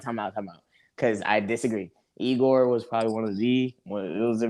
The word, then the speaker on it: Igor: Igor. You gotta pronounce the O. Igor.